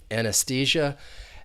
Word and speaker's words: anesthesia: an unstressed V sound and that next e is the long e because that is the